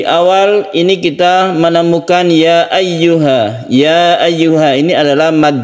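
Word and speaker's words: أَيُّهَا: Ayyuha, hati-hati di sini ada tasydid ya yang harus kita tekan ke ya-nya. Jadi membacanya itu harus ada penekanan kepada ya apabila kita menemukan tasydid.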